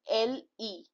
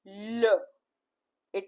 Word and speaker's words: le: Now here you see the example LE. LE is L. It is, please do not pronounce it as lay or li.